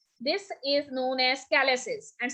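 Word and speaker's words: calyces: उस रीनल पेल्विक्स की, this is known as कैलेसिस, and spelling is CAL, okay, YCES, कैलेसिस।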